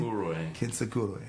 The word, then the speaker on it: Kintsukuroi: Kintsukuroi.